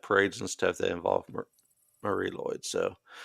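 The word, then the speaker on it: Mari Lwyd: community and as pronounced Marie Lloyd is definitely not spelled that way but you know that's that's how it's pronounced um and it it's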